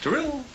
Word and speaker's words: Darryl: Thank you, Daryl. Drill.